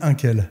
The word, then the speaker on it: Inque: Alors on dit Inkel.